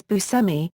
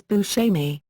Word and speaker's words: Buscemi: Buscemi pronounces his name as "Bu-semmy", but the Italian pronunciation is "Bu-shehmy". He once said about the pronunciation of his name: "I had to go to Sicily to find out I pronounce my name wrong."